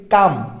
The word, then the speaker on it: calm: যেমন ধরো হচ্ছে CALM, এইটাকে আমরা উচ্চারণ করি কাম, এটার বাংলা যদি আমরা লিখি সেটা হচ্ছে কাম হবে, কি হবে? কাম হবে, বাট এখানে এলটা কিন্তু উচ্চারণ হচ্ছে না, ঠিক আছে?